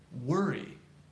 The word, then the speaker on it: worry: We use the phrase, or we pronounce it, worry. Worry. Which vowel do you hear?